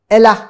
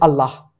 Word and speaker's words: Allah: him number one verse number two the word Ella has been used which if pronounced correctly correctly it is Allah and in fact there is a separate upanishad